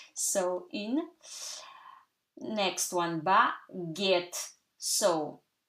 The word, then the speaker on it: baguette: Next one, baguette. So, you remember G-U gives you G, okay? Because if there was no U, you would read it baguette, okay?